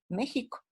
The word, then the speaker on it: México: oficial con la jota porque suena como j mexico y es más todo